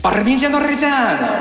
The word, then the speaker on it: Parmigiano Reggiano: Parmigiano Reggiano 24 months old. You should say it properly. Parmigiano Reggiano.